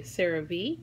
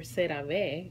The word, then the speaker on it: CeraVe: You can say CeraVe or CeraVe if you say it in Spanish.